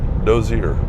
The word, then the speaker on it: Dozier: Again, I don't know if that was a community one time or just a train stop, a whistle stop, but it's called Dozier, D-O-Z-I-E-R.